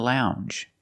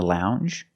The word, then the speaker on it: lounge: the hard G longer and we have the J sound the regular n n plus the J sound Lounge lounge and another one